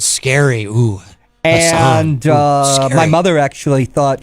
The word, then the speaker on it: Hassan: Senator Maggie Hassan, and that's an Irish name, that the local yokels on the right like to say Hassan. Oh, not just local. They do that nationally, too. The Republicans, they pronounce it Hassan, and they think they're clever.